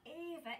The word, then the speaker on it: Ava: ah but it doesn't because the sound at the beginning of the word ava is a not ah so the next game